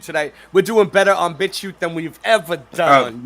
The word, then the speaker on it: BitChute: We're doing better on BitChute than we've ever done on YouTube. Yeah, and BitChute. Yeah, we know. Yeah, we know what you're thinking. We know what you're thinking. It's pronounced bitch, ute. Ute.